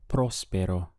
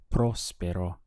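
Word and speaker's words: próspero: word for prosperous is Prospero notice that we have an accent over the all so it's important that your pronunciation stresses that part of the word Prospero if you say Prospero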